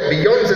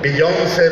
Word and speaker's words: Beyoncé: Por cierto, Beyoncé se escribe con acento en la última E, pero se pronuncia como si el acento estuviera en la O.